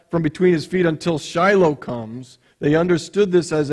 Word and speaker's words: Shiloh: many other versions it's Shiloh or in Hebrew pronounced Shilo what we say as Shiloh today the the Hebrew word